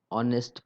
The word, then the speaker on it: honest: For example, a giraffe, an honest person, an honest. So honest starts with H, but H is silent. So here the sound is a vowel. Sound is of vowel O.